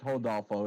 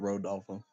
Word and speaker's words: Rodolfo: de Janeiro Rodolfo Vieira is it hodolfo because I know a lot of them pronounce they're ours with the h yeah it's hodolfo it's not Road dolphin let's go to Las